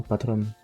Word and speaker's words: Patreon: D'ailleurs, je dis toujours Patreon, même si ça se prononce normalement Patron.